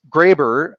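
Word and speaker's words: Grabher: even think about this it's it's graber uh g-o-r-a-b-h-e-r but it happens to have an h there there's lots of english words with a silent h but somebody got it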